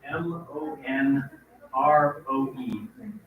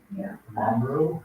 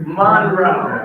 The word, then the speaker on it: Monroe: the turns out I every single instance of the word m o n r o e i mispronounce I was pronouncing it no Monroe thank you Monroe Monroe County right and I think